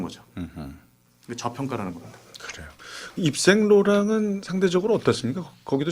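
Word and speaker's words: Yves Saint Laurent: 제가 프랑스어 배우면서 그 가장 그 불어 발음 제대로 할 때 그 얘기하는 게 이제 입생 로랑입니다. 그거를 제대로 프랑스식으로 원발음으로. 발음하면 입생 로랑.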